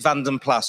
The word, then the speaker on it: Vanden Plas: I like to say Pla, but we're going to go over to Paul Cowland. He's going to tell you why I've been saying it wrong all my life. Well, it is a debate, isn't it, amongst all the BMC, Austin Rover, BL enthusiasts. Is it Vanden Pla, which the trade always used to say because it